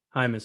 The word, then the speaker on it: Jaimes: actually pronounced but oh okay i get james a lot yeah it's pronounced hi miss okay good to know all right man well